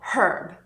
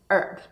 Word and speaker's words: herb: Essas palavras são our, honest, honor, air e a maior parte das pessoas também pronuncia a palavra herb, não herb, mas herb.